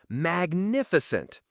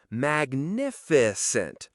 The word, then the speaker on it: magnificent: Magnificent. Magnificent. Stress on nif.